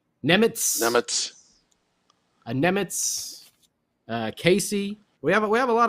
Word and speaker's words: Nemec: Is it Simone Nemec or something like that now? Nemitz. I think we were saying it wrong. Nemitz.